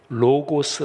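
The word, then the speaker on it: λόγος: 디아코니아 이렇게 말씀 드렸는데 말씀은 헬라어로 로고스 라고 발음합니다 우리 개성 드림 들은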